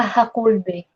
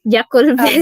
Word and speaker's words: Jaculbe: nung una kong tingin, alam ko naman na it pronounce H. Minsan nabibigkas ko Dati nung una ko yung binagkas. Nung una ko yung binigkas yung niya, yung apelyido niya, Jaculbe, sabi ko. Kaya Yan yung banggit ko sa kanya noon Jaculbe.